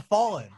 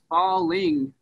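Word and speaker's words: Fallin': Congratulations on Fallin. Thank you so much. And there is a difference between the hard G and the N apostrophe, correct?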